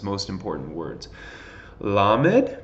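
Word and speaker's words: ל: its most important words la med makes the L sound mem obviously the M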